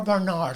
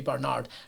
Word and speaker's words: Barnard: Now, do tell me, is it Barnard or Barnard? Because I think if it's posh round here, it must be Barnard.